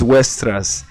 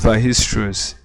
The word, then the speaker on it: Weierstrass: Weierstrass is pronounced Weierstrass. So that's it. But looking at it, it seems it's weierstrass, but it's pronounced Weierstrass.